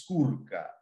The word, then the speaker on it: Skorka: Really, the correct way to pronounce my family name is Skorka.